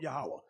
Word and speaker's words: Yahweh: They may say, some say Yahweh, some say Yahweh. I was taught Yahweh. That's how to pronounce it.